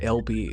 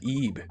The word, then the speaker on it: Ib: Is it Ib? Or is that LB? Is that pound? Is that the British pound, dude? Mate? The British pound, mate? Or like pounds as in like weight? Oh, it's pronounced Ib.